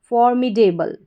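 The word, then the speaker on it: formidable: चलिए फिर से देखें, FOR फॉर, MI मी, फॉर मी, DABLE devil, फॉर्मिडेबल, फॉर्मिडेबल।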